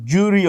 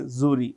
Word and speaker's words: jury: you know grand zuri award you can say jury also I prefer say zuri which is equally okay the secret agent uh